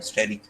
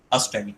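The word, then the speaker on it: asterisk: स्टैरिक, इसको स्टैरिक कहते हैं, अस्टैरिक कहते हैं। तो ये ए साइलेंट होता है।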